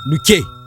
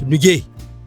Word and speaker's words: nuke: So we have an example there, nuke. Nuke, which means grandmother in English, kaka tamoche in Hausa. And sometimes some people pronounce it as nuge, which comes with this sound g, the same grandmother and kaka tamoche.